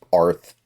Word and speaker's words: Arth: So Tom Arth, yes, that is his name. I didn't misspell it. I didn't leave off the UR at the end. It's Arth.